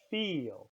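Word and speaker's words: viel: is over you now the letter V sounds like the English letter for example the word feel when we say that same sound feel and Dyke is spelled with a V feel and the word filled means many feel the final sound we're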